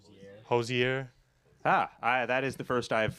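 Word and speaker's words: Hozier: That second song was Too Sweet by, there's controversy on how to pronounce the name. Do you want to? That one was Too Sweet by Hosier.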